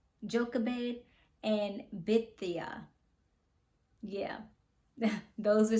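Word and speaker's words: Jochebed: Delilah Samson's first wife I believe you pronounce her name Joe Cabot joka bade and bithia yeah those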